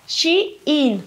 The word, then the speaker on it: Shein: Entonces, a mí la Anita me dijo, recuerda de pronunciar bien la marca, Shein.